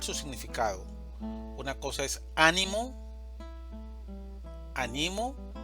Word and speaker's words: ánimo: Una cosa es ánimo, animo y animó.